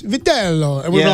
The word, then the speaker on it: Vitello: It's Vitello.